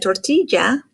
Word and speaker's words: tortilla: la apparently the eggie this is the double l is called the ak apparently it's not part of the alphabet anymore but you have to know it anyway because when you see this word like tortilla you need to know not to call it a tortilla tortilla so that double l makes a sound the letter m just